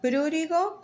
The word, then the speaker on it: prurigo: nodular prurito nodular espen sí se llama prurigo con acento en la u nodular por ahí googleen